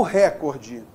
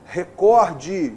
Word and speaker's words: recorde: como é recorde o record a o brasil bateu o recorde as incensado está certo bateu o record o recorde não o correto é recorde os concursos cobra direto